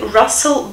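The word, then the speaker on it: rustle: make a mental note We've Got This brilliant actor Russell Crowe the Gladiator right and the same pronunciation Russell branches Russell Crowe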